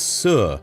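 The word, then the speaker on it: 四: In Mandarin Chinese, the word for the number four is su. The word for the concept of dead or death is almost identically pronounced as su.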